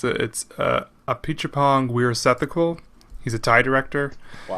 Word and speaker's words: Apichatpong Weerasethakul: I'll start with the older one, which was Tropical Malady by I will try my damnedest to pronounce his name right. I think it's Apichatpong Weerasethakul.